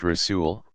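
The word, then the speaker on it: رسول: Rasul, pronounced Rasul, one who is sent.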